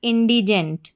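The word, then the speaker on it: indigent: पूरी स्पेलिंग बन गई हमारी इंडिजेंट।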